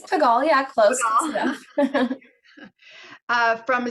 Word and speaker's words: Pagal: I hope I pronounced your name right, Pagal. It's Pagal, yeah, close Pagal, enough.